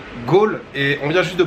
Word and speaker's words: Galle: bien arriver à gaulle ça s'écrit ga 2 m eur mais ça se prononce goal com le général de gaulle ou ou encore autre chose mais oui ça se prononce bien gaulle et on vient juste